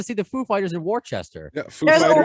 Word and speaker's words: Worcester: But I used to call it Worcester. Oh, I know it's Worcester.